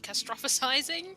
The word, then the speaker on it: catastrophizing: This is called catastrophizing, I believe, is how I don't know how you say it, but catastrophe. I can't say that word. Catastrophe. Wrong emphasis. Catastrophizing. That's how you say it.